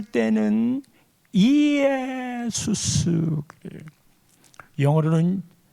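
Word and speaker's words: Ἰησοῦς: 헬라 말로 예수를 쓸 때는 이에수스 그래요. 영어로는 발음상으로는 제수스이지만 이거를 지저스라고 읽지요.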